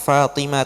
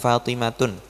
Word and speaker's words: Fatimah: Kenapa dibacanya Fatimah itu bukan Fatimatun? Mumtaz, mamnu' minas sarf. Alasannya karena dia adalah nama perempuan yang lebih dari 3 huruf, mumtaz. Jadi dia tidak boleh tanwin.